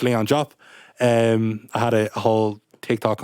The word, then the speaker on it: Leon Diop: I suppose I'm actually going to pronounce my name properly. It's Leon Diop.